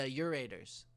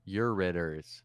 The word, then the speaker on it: ureters: u-r-e-t-r-s ah but it's the pronunciation is uh urators or is it yours you're ready you're ritters you're ritters okay that's not quite as